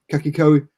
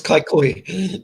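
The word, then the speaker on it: Kaikohe: Portia Woodman is heading north, apparently, to play for Kakiko Women's. Have I pronounced that right? No, not even close. I think that's Kaikoi. But listen, good attempt.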